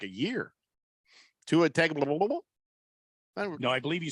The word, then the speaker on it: Tagovailoa: Tua Tagovailoa? No, I believe you said Tagovailoa. I don't think I would have ever pronounced it correctly.